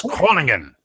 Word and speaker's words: Groningen: It was Groningen.